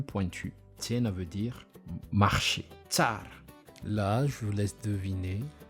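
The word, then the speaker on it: tsara: Tsar.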